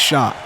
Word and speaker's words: Shock: That's how I've been handed that note. That is how his last name is pronounced. So I apologize if I got it wrong the first time. I will now say it the right way.